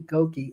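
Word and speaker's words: Gokey: And it's Danny Goki.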